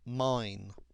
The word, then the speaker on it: Main: Confluence with the river mine now it's actually spelled m a i n but it's pronounced mine Mance is the capital